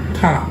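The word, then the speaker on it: ث: সা আসলে যদি আমরা উচ্চারণ করি ইংরেজিতে লিখতে হবে এই TH থা থা থা থা আর থা না থা।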